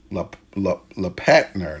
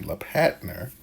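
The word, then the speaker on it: Lellepatner: And the first, make sure we spell it right. L E L L E P A T N E R. So L E P A T N E R is La Patner.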